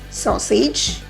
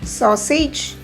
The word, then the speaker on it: sausage: Sausage. A-G-E is age according to us. So how is this pronounced? Sausage? No, it's pronounced as sausage. Sausage. It's not sausage, it's sausage.